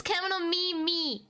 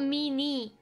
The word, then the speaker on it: Kemono Mimi: I just don't pronounce it good, but it's Kemono Mimi, not Mini.